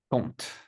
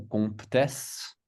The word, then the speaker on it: compte: Donc, beaucoup de gens disent compte ou comptesse, mais c'est compte. Compte. OK, donc c'est le O nasal avec le T, compte.